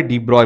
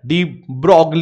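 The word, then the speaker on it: de Broglie: पर बता रहे हैं हमारे डी ब्रॉय बता रहे हैं डी ब्रॉग भी बोलते हैं ठीक है आपको जो ठीक लगे बोलो बस स्पेलिंग सही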